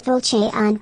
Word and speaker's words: Falchion: The way they pronounce it, it's Falchion, but yeah. Falchion, yeah, okay.